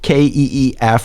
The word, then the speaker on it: Keef: So whoever Keef Rowe, Keef, like Keith Richards, ROW1 is.